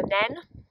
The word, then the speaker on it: Nene: I said to you that I was going to talk a bit about the River Nene or the River Nene, depending on where you are on the river.